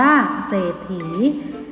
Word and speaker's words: เศรษฐี: ไม่ โกรธ เขียน โดเร ส่วน ทอ ฐาน ออก เป็น เสียง ขอ ถุง ให้ เกียรติ เป็น ทอ ถุง แทน และ ตา เมื่อ สาระ อีน่า คะ อ่าน ว่า เศรษฐี มี 2 พยางค์ ก็ มี ขีด ตรง